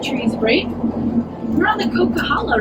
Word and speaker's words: Coquihalla: sometimes when the trees break we're on the cocaa right now can everyone say caala coca Hala it's like you know cocaa and then Hala cocaa guys if you can